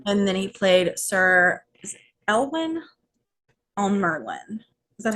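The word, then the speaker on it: Elyan: And then he played Sir Elwyn on Merlin. Is that how you say it? Yes, it would be Ellen.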